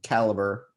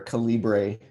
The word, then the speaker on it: Calibre: books and journal articles in caliber or calibre if you prefer the alternate pronunciation um and those are